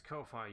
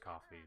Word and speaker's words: Ko-fi: do other stuff yes Kofi you are indeed a bot or coffee or harvest pronounced I think I think it's pronounced coffee but it's just okay